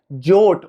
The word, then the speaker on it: JWT: आज की इस वीडियो में एक्सप्लेन करने जा रहा हूं जे डब्ल्यू T that is jसून web token जिसको प्रोनाउंस किया जाता है जट और ये एक्चुअल में बहुत ज्यादाेंट है इंटरव्यूज के पॉइंट ऑफ व्यू से।